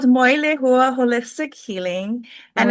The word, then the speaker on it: Moilehua: It's called Moilehua Holistic Healing, and it's Moilehu.